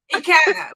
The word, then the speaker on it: Ekene: Okay, with that being said, tonight we have Mary, and y'all know I'm gonna say her name wrong, right? Ekene, I say it wrong, Mary. That's Ekene. Ekene, Mary Yes.